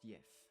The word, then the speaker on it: gif: Old English word GIF, if, pronounced YIF.